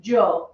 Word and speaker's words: yo: the same okay and depending on the country they will either sound like a y or a j in english not an h okay so that joe joe means i okay this is the